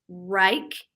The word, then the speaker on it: Wrike: And then also, I think it's pronounced Rike. It's WRIKE, and that's a collaboration tool with teams with a bunch of integrating applications that are really highly used and popular.